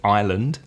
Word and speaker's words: island: Spanish speakers for example the word Island haha with an S but before this we